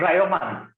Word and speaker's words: Rayomand: How do you pronounce the name? Raymond. Rayomand. Rayomand. Yes.